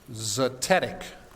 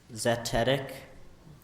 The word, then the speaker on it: zetetic: what a little heat on Sean thumbs up zetetic zetetic zetetic an adjective that means proceeding by inquiry zetetic zic are there any alternate pronunciations I have just the one zetetic can you please repeat the definition proceeding by